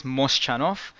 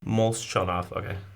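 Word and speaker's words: Molchanovs: I'm really bad with pronunciation. So they are known, well, the name is Moschanov. They are a Russian brand. Molchanov.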